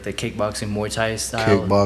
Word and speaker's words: Muay Thai: years, that's when I was like, I love Muay Thai. Yeah. And so help me and others understand what exactly is Muay Thai.